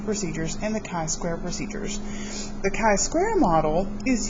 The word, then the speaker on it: chi-square: The Greek letter chi kind of looks like an X, and then of course we put a square on it, so we pronounce this chi-square.